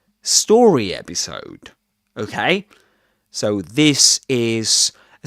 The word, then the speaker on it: story episode: And compound nouns in English are early stressed, which means that the first element in the unit gets the main accent. So, and actually, story has two syllables, story. So the main accent goes on the stressed syllable, story episode.